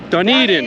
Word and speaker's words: Dunedin: Duneden.